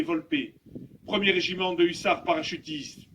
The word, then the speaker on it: Volpe: Brigadier Arnaud Volpe, prononcé Volpe, 1er régiment de hussards parachutistes, 1er RHP, mort pour la France.